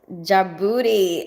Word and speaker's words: Djibouti: Djibouti is pronounced Djibouti.